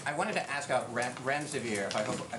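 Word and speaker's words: remdesivir: you so much I wanted to ask out rent rent severe if I pronounced that correctly can you tell say is it currently approved for use on the virus so REM des aveer and it's a drug made by Gilead that's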